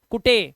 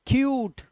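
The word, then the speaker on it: cute: पढ़ लेंगे इसे टने नहीं ये ट्यून है कुटे नहीं क्यूट यूट ऐसे ही म तो म्यूट म्यूट क्यूट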